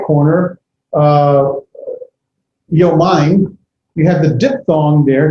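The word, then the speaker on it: יומיים: You can have yomayim, it's like yomama. Yomayim would be 2 days. Notice if you look at the far bottom left corner, yom, and the top dual right corner, yomayim, you have the diphthong there.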